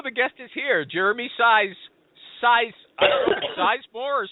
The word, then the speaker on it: Sisemore: Jeremy size more or seismore. Welcome to the show. Thank you. And it's pronounced like it has a Z.